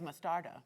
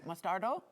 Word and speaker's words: mostarda: That's why you have mostarda. Correct. Mostardo?